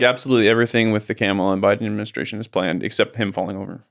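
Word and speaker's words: Kamala: way camela is it camela camel camela okay camela Harris dropped an F bomb while urging young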